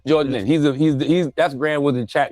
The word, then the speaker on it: Nguyen: It's a Vietnamese name. Nguyen. By the way, the second name I've never heard it in my life. But go ahead. Win is the closest, yeah. George Nguyen.